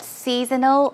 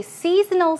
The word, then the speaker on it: seasonal: So if you say seasonal something, it means pertaining to or that it's related to a specific season. Here, the pronunciation is seasonal, seasonal, seasonal. It's more like snow, seasonal.